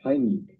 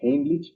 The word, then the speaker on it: Heimlich: Muy bien, vamos a ver en este video la maniobra de Heimlich, que por cierto, esa es la pronunciación correcta porque está en alemán, la mayoría dice Heimlich, pero bueno, se entiende de qué se trata.